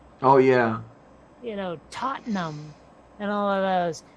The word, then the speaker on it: Tottenham: that the um like the british towns that end in ham but are pronounced hum oh yeah you know tottenham and all of those